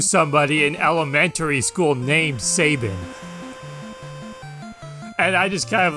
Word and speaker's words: Sabin: met somebody who insisted that the name was pronounced Sabin and I actually tried to correct him he